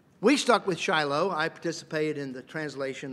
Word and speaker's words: Shiloh: Sheen lamid hey it mean it it is pronounced Shiloh so uh if if you don't change the Hebrew text the way it is it's a personal name Shiloh do Jews view this as um Messianic not